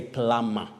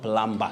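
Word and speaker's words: plumber: or thumb print not thumbprint we also say plama not plumba tempestuous if i'm not wrong uh that word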